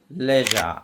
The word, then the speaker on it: leisure: Leisure, LEISURE, leisure.